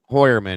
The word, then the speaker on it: Heuermann: What do you How did you pronounce it Digger? Heuermann. Heuermann is how it's actually pronounced.